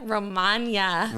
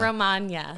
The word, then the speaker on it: Romagna: i struggle with that amelia romagna not romania romania i see i